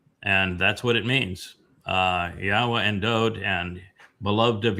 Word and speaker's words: Yahweh: That's actually how I pronounced it, Yahweh. So the first time I listened to you on Blood Talk, that's actually what I wanted to hear. That how are you actually pronouncing this? So that's what I wanted to hear. And then I see that it was actually kind of close. So I said, okay, Yahweh, okay. Yeah, your pronunciation of mine are the same.